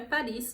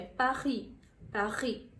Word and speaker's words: Paris: tá e a cidade não é Paris ou Harrison oficialmente em francês o nome da cidade é passe a rir é mais uma vez tem o s mas não pronuncia francês é uma língua